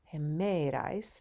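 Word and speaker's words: ἡμέραις: jemerys is the days notice it's rough breathing mark and then we have himerais the accent is on the second syllable this is dative feminine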